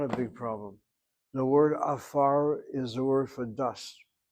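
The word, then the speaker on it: עפר: Oh, the word is pronounced as afar.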